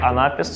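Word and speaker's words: анапест: Дактиль с ударением на первый слог, амфибрахий с ударением на второй слог и анапис с ударением на третий слог.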